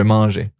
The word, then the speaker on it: mangeais: Okay, and it's still pronounced the same, je mangeais.